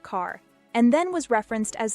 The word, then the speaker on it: Carr: his parents were Scots using the Scottish pronunciation of Kerr but in the English Royal Court he was known as Robert Carr and then was referenced